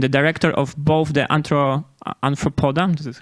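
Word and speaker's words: Arthropoda: State University, and the director of both the Anthropoda, this is how you pronounce it, Anthropoda Foundation and the Animal Welfare Economics Working Group.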